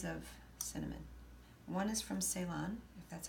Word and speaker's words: Ceylon: One is from Ceylon, if that's how you say it. Ceylon? Ceylon, thank you.